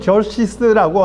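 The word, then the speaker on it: Xerxes: 아, 한글로는 그냥 크세르크세스라고 번역을 했어요. 근데 영어로는 저시스라고 하는데이 영어 발음 그냥 한국식으로 그대로 번역해서 크세를 크세스라 그랬어요.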